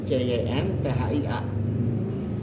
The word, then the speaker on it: Chintya: Dia CHINTYA, kalau ini CYNTHIA. Tapi kalau disebut kan Cynthia Ya, Ramlan bacanya juga. Cynthia juga gitu.